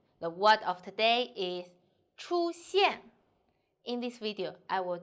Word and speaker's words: 出现: The word of today is 出现. In this video, I will teach you how to pronounce it, how to write it, and how to use it.